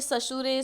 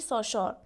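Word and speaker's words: Saussure: of Ferdinand day सशर पहले मेंे ससुरे ससुर ऐसे प्रोनाउंस करती थी सो the proper pronunciation is Ferdinand de सशर सो इट is based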